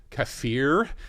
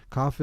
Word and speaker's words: kafir: Yeah, she said, you're familiar with the term kafir, and accentuating the word fear in the second syllable was quite telling.